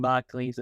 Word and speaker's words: Margolyes: Because I'll probably even mispronounce the last name because it sounds like I'm saying the word leaves at the end. The way you remember it is it's yes at the end. Margol, yes.